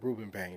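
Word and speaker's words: Rueben Bain: How do you pronounce his name? Ruben Bain.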